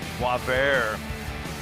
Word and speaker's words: Boisvert: Yeah, pronounced just the way it looks. Boisvert, really good stuff.